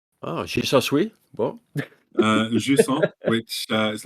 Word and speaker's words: Jusant: So I've been playing Jusant. Oh, she's so sweet. What? Jusant, which is like the rising tide or something in French, something like that.